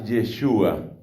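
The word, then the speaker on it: ישוע: El nombre de Jesús parece que se pronuncia en hebreo, en arameo, se pronuncia algo parecido a Yeshua.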